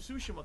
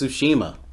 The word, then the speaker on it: Tsushima: ] the ghost of sushima comes out and i actually feel he can't even say it right it's tsushima the actual reviews for